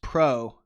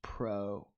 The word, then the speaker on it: Powell: you uh powell oh it's pronounced pro oh my last name is pronounced pro thanks again david